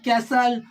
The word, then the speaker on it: castle: middle of a word where T follows s means when t comes after s same thing is here like in Castle hustle bristle so in that case it takes the sound of s and becomes a silent account of s as